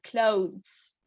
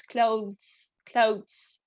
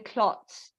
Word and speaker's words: clothes: So it would be a better pronunciation could be clothes. In this way, the th is not that strong. It almost sounds like a t, so it's clothes, right? But it's the o is kind of softer rather than clots or something like that.